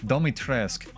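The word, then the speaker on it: Dimitrescu: Domitrescu.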